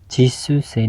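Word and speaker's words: 実習生: Dan yang ketiga, watashi wa aimu Japan no Jisuse desu, ini bacanya Jisuse ya.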